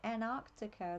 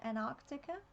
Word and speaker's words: Antarctica: Antarctica or from what I've heard on Stargate, Antarctica. They don't have a T in it. Is that how Americans say it? Antarctica. Ironically, Australians don't usually pronounce te's very well, but we say Antarctica.